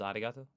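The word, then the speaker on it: ありがとう: romanized yeah right exactly this character isn't is announced using an English R sound at all it's like a mixture between an r and an l sound the there's no such sound in English but most people would transcribe this using the letter R because that's the closest equivalent there is in English pronouncing it like an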